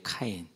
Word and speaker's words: 카인: 자, 그러면 이제 뭐 이제 보면서 좀 여담적인 거지만은 우리는 발음이 가인이잖아요. 히브리어 원어은 카인이에요. 카인.